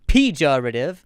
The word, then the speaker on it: pejorative: They've got you can stress any part of this word and be correct. Pejorative.